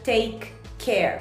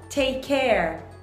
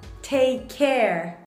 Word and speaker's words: take care: aí pronunciando mais naturalmente o take termina com K né E aí o care Começa com C Então esse take care pronúncia muito parecido então você não precisa pronuncia take care você vai falar tudo juntinho então vai ficar take care take care take outra